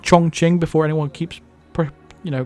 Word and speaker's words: Chongqing: is the chongqing in china and it is pronounced chongqing before anyone keeps you know keeps trying to correct me it's chong ching you google it go on youtube look at